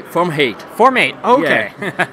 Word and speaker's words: Forma.8: just say from hate formate okay i know it sounds different in italian so in english it's a bit different it's forma otto in italian so strange name all right so for formate uh yeah yeah well